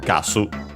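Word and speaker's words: ガス: Accented on the first syllable, just like in English. Gasu.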